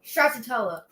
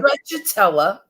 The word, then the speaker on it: Stracciatella: Stracciatella. Stracciatella. Okay. Stracciatella.